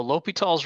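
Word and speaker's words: L'Hôpital: where we say l'hopital it looks like it's spelled hospital but we say l'hopital's when you get the name right it's enough repetitions of that so l'hopital's rule was something that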